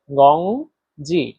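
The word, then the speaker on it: 工资: আর এক number ton উচ্চারণ নিয়ম হচ্ছে সোজা লম্বাভাবে বলতে হয়। তাহলে দেখেন গংজি গংজি একেবারে এক লেভেলে গংজি এর বাংলা হচ্ছে বেতন।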